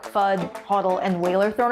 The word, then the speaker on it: FUD: FUD, FUD, not food, and use it in a sentence. I say it rhymes with mud, and no one has corrected me yet, so I'm gonna go with FUD.